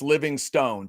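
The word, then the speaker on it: Livingstone: Someone sent us this chat said it's Living Stone. Chad, I was with you. I was with you. I thought there's absolutely no way because I'd never seen another pronunciation, but apparently Livingston is correct.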